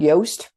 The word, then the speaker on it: Yoast: It's called Yoast, rhymes with toast, and it can scan